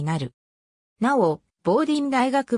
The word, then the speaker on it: Bowdoin: ことがあるが実際の発音はボーディンもしくはボーデンに近い棒銀大学は 1794